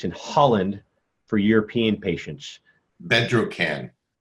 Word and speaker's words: Bedrocan: Bedrocan. Bedrocan. Bedrocan. You spell it?